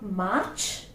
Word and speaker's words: march: Now another word, it's not march, it's march. March. That's a sound. So it's like this. March. Like this. March. R is silent.